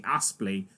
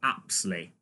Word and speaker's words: Apsley: I called her repeatedly Lucy Aspley, and it's really pronounced, and spelt actually, Lucy Apsley.